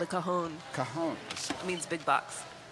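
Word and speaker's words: cajón: It's called a cajon. Cajon. It means big box. And it's spelled C-A-J-O-N.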